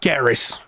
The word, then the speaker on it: Gaheris: So Garrus is a Welsh name. Because it's not spelled Garrus. It's spelled Gaheris. yeah, Garrus.